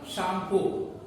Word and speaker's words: Tsangpo: Where it is known as the शांगपो। Tibet में इस नदी को शांगपो के नाम से जाना जाता है। शांगपो स्पेलिंग है TSANGPO। शांगपो, टी छुपा हुआ है, इसको हम शांगपो पढ़ते हैं, तो इसको हम शांगपो के नाम से जानते हैं।